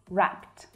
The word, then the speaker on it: wrapped: Now, the past tense of wrap is wrapped. And it's a regular past tense verb, so we simply add ed. But the pronunciation of that ed is more like a t sound.